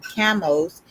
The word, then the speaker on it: Chemosh: So the Hebrew form chemos was itself later romanized as chemosh. Also sounds like chemotherapy in translations of the Bible, while the accurate pronunciation of the name of God, reflecting the Moabite pronunciation Chamos, is more accurately recorded